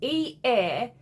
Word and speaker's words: Eamon: So it's E-A-M-O-N. And in my mind, I am pronouncing it as Eamon. Kind of like semen without the S.